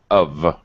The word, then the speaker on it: have: this you won't have of of where have is pronounced like of o f of you